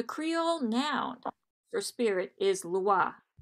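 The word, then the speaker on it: lwa: The Creole noun for spirit is loi, which is pronounced like the French word for law.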